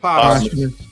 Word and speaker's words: posthumous: Posthumous. Yeah. Like a possum, but posthumous. Yeah, it's because it's a TH in it, but it kind of is not pronounced posthumous. It's just posthumous.